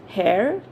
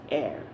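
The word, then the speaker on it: heir: but very interesting it's is it hair no it's air now if we see the h the letter h is silent here like in our previous two you know words k was silent here h is silent so we speak it as air fine now what is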